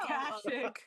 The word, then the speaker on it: Akashic: Reiki Master and Ashaki, and I may be mispronouncing these as well. Akashic.